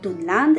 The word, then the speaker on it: Dunland: Il faudrait donc les prononcer Dunland et Dunlending.